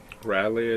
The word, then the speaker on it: Raleigh: Yeah, How do you say his last name? Raleigh, I think. Raleigh. English Riley. malfunction. Like Raleigh, North Raleigh. Carolina, right? Raleigh. Yeah, like Raleigh.